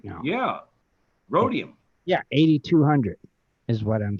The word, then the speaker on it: rhodium: what I mean wrong it's rhodium like a rodeo you just leave out the rhodium 1955 prices David